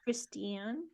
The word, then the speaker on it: Kristian: it's Christian but it's spelled k-r-i-s-t-i-a-n would you pronounce that Christian yeah Christian Christian I froze up there in the middle